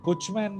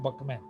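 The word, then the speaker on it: Buchman: BUCH, बुचमैन लिखा है लेकिन प्रोनाउंसिएशन है बकमैन।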